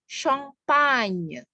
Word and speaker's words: champagne: Kemudian contohnya misalnya, contoh minuman anggur Perancis yang terkenal, ya, orang Inggris menyebutnya champagne. Nah, tapi pelafalannya champagne, ya, nye, ya, seperti menyanyi, jadi nye, G dan N itu dibaca nye, champagne.